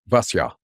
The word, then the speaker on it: Vasja: always an icebreaker it's a short lesson about Slavic languages where a j is pronounced as a y so there a short